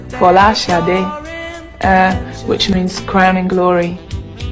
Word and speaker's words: Sade: My name is uh my actual my true Nigerian name or the true Nigerian pronunciation or as close as I can get to it is shadi uh which means crowning